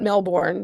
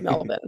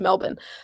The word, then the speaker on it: Melbourne: yeah, I know it's not Melbourne because I studied abroad there. It's Melbourne. So if anyone's saying Melbourne, that's not how you say it. It's Melbourne.